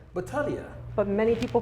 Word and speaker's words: Battaglia: your lesson correct Oh Battaglia Battaglia but many people pronounce it Battaglia well seal at American we see the G and we can't help it that's right right there